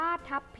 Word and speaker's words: ทัพพี: กุด แต่ เวลา เขียน คำ ว่า ทับ ต้อง เป็น พ. พาน เป็น ตัว สะกด นะ คะ มี คำ